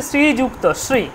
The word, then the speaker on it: শ্রীযুক্ত: শ্রীযুক্তাশ্রীযুক্তাক্তা শ্রীযুক্তা কেমন হবে শ্রী যেহেতু দীর্ঘ আছে শ্রীতাই শ্রী শ্রী ইউ তাহলে শ্রী ইউ ইউ উচ্চারণটা ইউ ইউ ইউ ইউ শুধু উলা কিন্তু উক্ত না শ্রীযুক্ত শ্রীযুক্ত যুক্ত যুটা যুক্ত করতে হবে ইউ শ্রীযুক্ত পরিষ্কার শ্রীযুক্ত